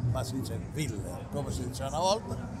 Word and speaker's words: Willer: Ancora oggi lo confesso, leggo tutti i mesi Tex Willer, che non si dice Willer, ma si dice Willer, come si dice una volta, e quello lo leggo, è l'ultimo aggancio.